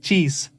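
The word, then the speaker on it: xis: X is pronounced like cheese. And you can evolve it like cheese, cheese, cheese, cheese. X is cheese in Portuguese.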